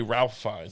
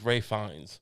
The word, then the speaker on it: Ralph Fiennes: it Ray fines yeah you say you say Ralph finds I think it's Ray fines I mean to be fair it's very much spelled like real it's spelled like Ralph but uh it's the